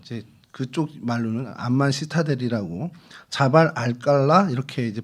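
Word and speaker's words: جبل القلعة: 암만 시타델이라는, 이제 그쪽 말로는 암만 시타델이라고 자발 알깔라 이렇게 이제 발음을 합니다.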